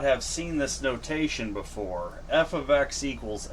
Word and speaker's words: f(x): F ofx= x.